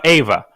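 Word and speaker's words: Euwe: In Russian, we say Ava. Max Ava.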